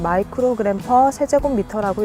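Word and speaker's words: μg/m³: 미세먼지의 단위는 마이크로그램 퍼 세제곱미터라고 읽습니다.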